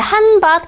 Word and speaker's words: 한밭: 그다음에 한밭 같은 경우 보면 이게 실제로 발음이 디귿으로 나죠? 그러니까 HAN. 그다음에 여기는 모음 앞이니까 GDB 혹은 크트프. 근데 모음 앞이면 B죠, B. 그래서 한밭. 그래서 밭이 뒤에니까 뭘 써요? T를 쓰더라.